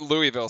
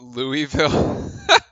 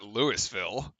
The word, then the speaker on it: Louisville: let him have it I love how you call it Louisville how what how else do you pronounce it Lewis it's not Lewisville I I live three